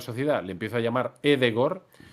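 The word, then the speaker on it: Ødegaard: Pues no es Martin Odegaard, es Martín Edegor. Pero si yo, cuando ficha por la Real Sociedad, le empiezo a llamar Edegor, o sea, la gente...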